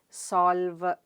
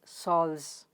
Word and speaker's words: solves: In solves, it's L, V and S sound at the end of the word. Right? They are the final consonant clusters present in the word. Solves. You don't say solves, right? It's solves. So L, V and Z.